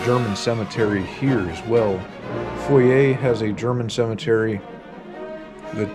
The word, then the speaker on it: Foy: to the town of Foyer, which is this right here. A lot of Americans, myself included, refer to it as Foy, but I believe the correct pronunciation is Foyer.